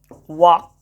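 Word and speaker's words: walk: जैसे आपको छोटा मोटा शब्द तो ऐसे भी याद है आपको, टॉक, वॉक।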